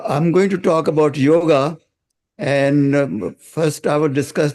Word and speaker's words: yoga: I want to clear the confusion some people pronounce yoga as yog even some of the well read achara is also pronounce it yoke in my opinion it is Yoga because is